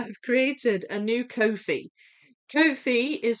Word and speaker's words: Ko-fi: Kofi is spelled K O FI and it's uh I don't think there's an app.